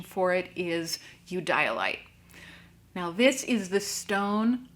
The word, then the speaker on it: Eudialyte: I've heard this gemstone pronounced Eudialyte, Eudialyte, or even Eudialyte, but the most common pronunciation for it is Eudialyte.